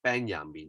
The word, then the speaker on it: Benjamin: okay i always say i tried to pronounce his name as ben yami instead of benjamin okay of course you can call him benjamin he these two are german